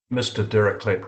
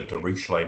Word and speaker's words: Dirichlet: Dirichlet does pronounce it Dirichlet, but in America it's usually Dirichlet. We pretend it's French, which it is French, but he calls it Dirichlet.